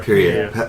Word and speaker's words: Pierre: How do you pronounce his name? Pierre.